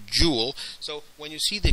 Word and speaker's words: joule: james prescott jewel and we pronounced this here jewel so when you see